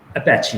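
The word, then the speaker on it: Apache: मेरे हिसाब से इसका करेक्ट प्रोनाउंसिएशन अपैची है।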